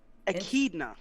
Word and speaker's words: echidna: of how do you say this guy's name akidna akidna are you sure about that oh yeah